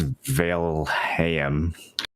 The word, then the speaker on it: Valheim: People are sending me things on how to pronounce Valheim. I'm pretty sure it's Valheim.